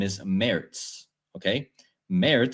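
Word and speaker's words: Merz: Meritz sounds like Meritz in German. So they sound the same.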